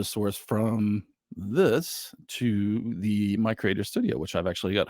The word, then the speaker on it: MiCreator: and they have a new product called the my Creator Studio I almost said me Creator so it's spilled with an M an MI